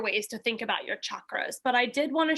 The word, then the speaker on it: chakra: lead you through a chakra or chakra however people like to pronounce it i've heard both normally i'll say chakra but the sh sound is just fine chakra meditation and if